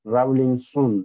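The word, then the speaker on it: Rawlinson: نمیدونم چطور تلفظش می من نگاه کردم به چیز شیو نوشتن لاتین که راولینسون درست تلفظ میشه چون این سون در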